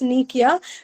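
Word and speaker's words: nekuia: N E K U I A which is pronounced as Nikia which is the ancient device used to summon and question ghost.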